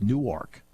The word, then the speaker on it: Newark: I said, yeah, it's pronounced Newark. That's Delaware.